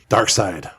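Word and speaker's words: Darkseid: Dark Side. The big bad. I mean, You pronounced it side. I did. Yes. Even though it's SEID.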